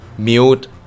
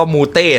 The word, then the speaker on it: mute: กัน แล้ว นะ อ mute mute ที่ แปล ว่า ปิด เสียง นะ ครับ แต่ อ่าน อย่า บอก ว่า อ่าน ว่า มูเต นะ สวัสดี ครับ คุณ หมู